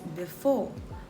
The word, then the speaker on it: before: For example, the word before is pronounced as before with stress on the second syllable.